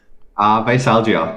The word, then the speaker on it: Veisalgia: How do you pronounce it? Veisalgia, yeah.